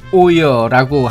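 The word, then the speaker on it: oil: 저분이 오이를 자꾸 오이어라고 하는데 영어의 L은 사실 한국인의 리을의 소리와 전혀 다릅니다. L 발음을 할 때 L이 아니라 L이라고 발음하기 때문에 오일이 아니라 오이어 오여.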